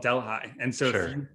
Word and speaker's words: Delhi: there's a town called we would call it Delhi, but it's called Delhi. And so If you pronounce it Delhi, everyone knows that you're not from our county, because it's Delhi, obviously.